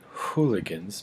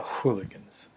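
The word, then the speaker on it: Whooliganz: with the alchemist um I pronounce it hooligans because there's a w it's pronounced it's it spelled WH o olig a and z the duo went by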